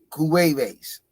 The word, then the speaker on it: Cuevas: Oh, he fighting Derek Cuvas. I forgot how you down. That ain't how you pronounce it. It's Derek Cuevas.